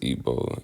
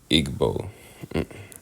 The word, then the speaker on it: Igbo: my ethnic group is ebo pronounce ebo and not Igbo I used to say